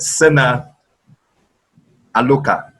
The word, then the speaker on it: Sena Alouka: It's actually pronounced Ebebeinwe. Ebebeinwe. Okay. And Mr. Sena Alouka.